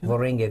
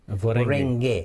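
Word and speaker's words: Voreqe: Can you spell it? Vorenge. V-O-R-E-Q-E. Vorenge Bainimarama.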